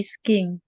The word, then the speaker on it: ski: i never play play sking ski ski bacanya bukan Sky kalau Sky kan artinya